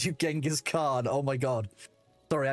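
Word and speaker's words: Genghis Khan: Called you Genghask Khan. Oh my god. Sorry. A I think it's pronounced Chingis Khan.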